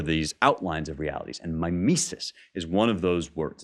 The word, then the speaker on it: mimesis: And I'm going to argue that mimesis, or mimesis is the way you pronounce it in Greek, but I'm going to say mimesis as sort of the English way of pronouncing it.